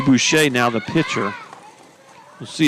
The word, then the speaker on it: Boucher: I think it's Miss Butcher. I think we were checking on that. We were trying to remember if this was the. We didn't get the name, the pronunciation until just now on William or Will. So Will Boucher now the pitcher.